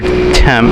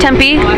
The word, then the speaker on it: Tempe: Are you from Phoenix or Temp? Is that how you say it? Tempe.